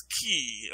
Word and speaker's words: qi: He is Gold Horn Penguin now, and he is eating everybody's chi, or it's spelled QI. And I learned that can also be a CH or a C sound, so that's what's going on there.